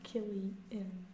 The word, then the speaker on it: Cillian: Or Killian.